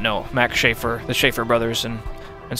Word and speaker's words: Schaefer: did not know Max Schaefer the Schaefer brothers and and so on or sheffa as you would actually pronounce it in German as it happens I